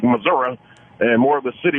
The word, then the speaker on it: Missouri: or they pronounce it Arkansas, or I should pronounce it Arkansas. Yeah, thanks. Shane in Missouri. Hey guys, how you doing? $1,000,000, Fez. Missouri. There's this battle been going on forever. Can't stand it. It's Missouri.